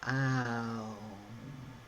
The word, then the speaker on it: Om: It's one word, O-M. But how it's worked with vocally in the mouth, it's you go through the vowels. Ah, O, So, ow is how it's actually pronounced when you're working with deep chant work.